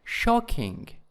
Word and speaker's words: shocking: Next one is violent, violent in the first syllables, and then shocking, shocking in the first syllable, and then annoying, annoying in the second syllable, and next one is embarrassing, embarrassing, embarrassing.